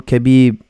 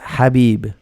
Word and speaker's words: Khabib: will you call him cabbie excuse me hey for us why do you why you call him cabbie I think you can't pronounce his name correctly it's Habib I'm not sure I